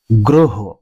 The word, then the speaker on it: গ্রহ: একই সূত্র অনুসারে দ্বিতীয় শব্দটির উচ্চারণ শুদ্ধ হবে গ্রহ, গ্রহ।